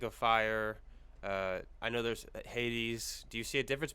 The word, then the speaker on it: Hades: And the New Testament Greek counterpart to the Hebrew Sheol is the Greek Hades, which we pronounce Hades as English speakers. So Sheol, Sheol and Hades, these are references to the place of the dead.